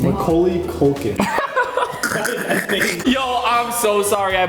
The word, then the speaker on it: Macaulay Culkin: Macaulay Culkin. Yo, I'm so sorry I butchered that.